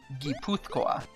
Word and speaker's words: Guipuzcoa: G-I is he in Spanish, but it's actually Guy, because in Basque it's Guy. I don't know what an S with a little circle below it means in the IPA. Neither do I. Guipuzcoa. But in Spanish it's actually spelled G-U-I, so it is still Guy, and it's Guipuzcoa. And it's a C-O-A, which makes more sense.